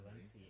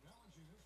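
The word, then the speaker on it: Valančiūnas: Oh, he's deep in the Valencia. Is that right? Is that how it's said? That was Valanciunas.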